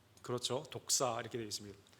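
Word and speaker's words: δόξα: 좀 발음이 좀 그렇죠. 독사 이렇게 되어 있습니다.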